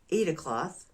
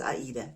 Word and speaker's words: Aida: Swaggart in Germany and it's called Aida now some people already knew this I did not I just thought that was the German pronunciation of ADA cloth or it was just the way some people's the way they wanted to pronounce it but now I have been informed that no is German invented German named and the German name is Aida not Ada cloth and I will be